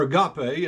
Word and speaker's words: agape: for your careful consideration that the Greek word Agape or Agape as some pronounce it as it is used to describe